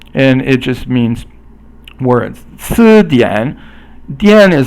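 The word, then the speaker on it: 词典: 词典 dian is like a dictionary, so 词典 means 词 is second tone and dian is third tone.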